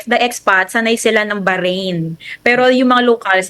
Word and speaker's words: Bahrain: ibinagi ng Bonda na ang pagbigkas sa Bahrain na malokal ay naiiba sa na kasanayan o kadalasang naririnig natin imbes any diretsong Bahrain banggit na malukal ay mayroon mistulang Bigas na titik ha o Bahrain Baharin kasi yung letter